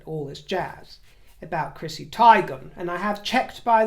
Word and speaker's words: Teigen: and she says and confirmed my own suspicions upon looking at the name and the spelling that it is pronounced tigon so I'm going with